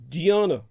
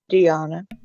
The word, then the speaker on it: Dianna: Just think of piano. You can call it piano or Dianna. There we are. Dianna. Yes. It rhymes with Gianna, just with a D. Dianna.